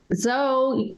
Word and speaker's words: Zo: Zo, your r your name rhymes with Mo.